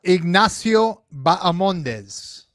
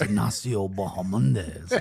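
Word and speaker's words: Ignacio Bahamondes: Care to uh have a gander as to how this man pronounces his name? Yeah. Ignasio Bamondes.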